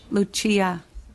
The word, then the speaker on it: Lucia: Am I pronouncing that right? Lucia. Oh, the Italian way.